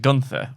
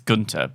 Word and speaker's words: Gunther: first championship no no I can't help but pronounce it Gunther also I know that's not correct it's Gunter but it's Gunther from friends from friends yeah